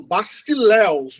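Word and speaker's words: βασιλεύς: Basileus. Isso, bacileus. Bacileus. Porque o S tem som de S mesmo.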